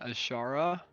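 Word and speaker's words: Azshara: bites says it's running queen ashara that's how you pronounce it yeah i i think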